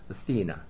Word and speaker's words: Athena: 그래서 요거는 Athens라고 읽어야 돼요. 여기에 액센트가 와요. 스트레스가. 그래서 Athens, 우리가 아테네는 Athens. 근데 아테나 여신은 Athena, 그죠? 이렇게 읽어야 돼요. Athena, Athens. 영어로는 발음이 완전히 다르죠.